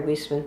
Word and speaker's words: Wiessman: Just so you know, I pronounce my name Wiessman. Wiessman, okay.